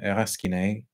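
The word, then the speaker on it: Rasquinet: But Jest, which is credited to Julian Raskiné, I never know whether you're meant to pronounce the S in his surname. You'd think you shouldn't pronounce it, but apparently you do.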